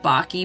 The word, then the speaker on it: Bache: There's a really amazing book called LSD in the Mind of the Universe, Diamonds from Heaven by Christopher, I think his last name is pronounced Bache, B-A-C-H-E.